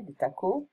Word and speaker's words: des tacos: Okay, des tacos. We don't pronounce the S in French.